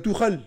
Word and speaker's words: Tuchel: Tu prononces pas le nom de Tuchel, lol. Ouais, Tuchel, c'est Tuchel. Tuchel.